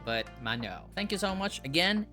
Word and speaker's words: Maono: They did say that this is pronounced as Mano, not Mano, but Mano.